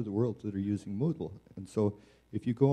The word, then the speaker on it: Moodle: So it's spelled M-O-O-D-L-E.